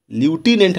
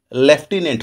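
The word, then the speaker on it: lieutenant: में लिखा हुआ है यह लूटीनेंट लेकिन इसका उच्चारण ड्युटिलेंट ना होकर लेफ्टिनेंट होता है और लेफ्टिनेंट में एफ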